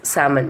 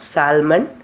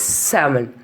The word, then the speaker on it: salmon: Commonly, L is not pronounced after the vowels A, O, and U.